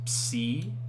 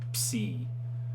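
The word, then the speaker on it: ψ: This is psi. This is a bit awkward to pronounce. It's like you're putting your lips together and then trying to pronounce the C noise. Psi. Like cups. Psi.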